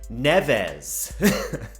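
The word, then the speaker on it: Neves: all you Anglophones that don't like my Portuguese pronunciation Rueben NEFAs the amount of people that were telling me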